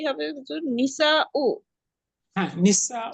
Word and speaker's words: النساء: হুজুর এখানে মহিলারার উচ্চারণটা কি হবে হুজুর? নিসা ও হ্যাঁ, নিসা ও, মান হাউলাই নিসা ও তিওয়ালু, এই লম্বা মহিলাগুলো কারা?